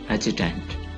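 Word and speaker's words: adjutant: एजुटेंट, डी is silent.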